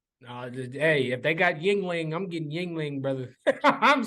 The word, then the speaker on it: Yuengling: It's not spelled Y-I. It's Yuengling. But this shit is good.